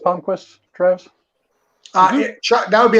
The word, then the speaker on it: Palmquist: Is it pronounced Palmquist, Travis? Chuck, that would be a Chuck question. Chuck, yeah, Palmquist.